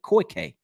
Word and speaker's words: Koi K: CT says koi like the fish, then a hard K. Koi K.